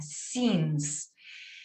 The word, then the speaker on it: since: palabra que significa desde, since, ¿ok? La I bien marcada, since. Es complicado porque arriba tengo una I y esta se pronuncia I, childhood, y abajo tengo otra I latina y se pronuncia since, ¿ya?